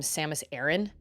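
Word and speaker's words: Samus Aran: Metroid Prime 3 um they pronounce her name Samus Aaron I thought it was Samus Iran call me crazy but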